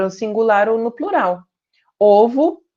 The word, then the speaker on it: ovo: Ovo, fechado, ovos, aberto. Osso, fechado, ossos, aberto.